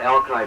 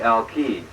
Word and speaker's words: Alki: it's we call it alki point now the real pronunciation is supposed to be al-qaeda but you know 500 000 satellites call it alki so i'm going to